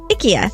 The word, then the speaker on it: IKEA: So it's supposed to be IKEA. IKEA.